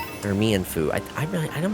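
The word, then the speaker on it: Mienfoo: I wanted Mine Fu or Mianfu. I I I'm not sure how it I want to say it's pronounced Myanfu because of the uh supposed to be be based on like get to the piss baby.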